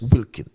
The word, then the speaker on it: Wilkin: But the difference with the AG, his surname begins with a W and is pronounced Wilkin.